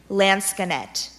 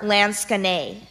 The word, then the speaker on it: lansquenet: Unknown to the Duke, the Duchess was in deep debt from long nights spent playing lansquenet. Are there any alternate pronunciations? It can be lansquenet or lansquenet.